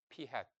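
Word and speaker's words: p̂: 모자는 영어로 hat. 그래서 P hat이라고 읽어요. P hat.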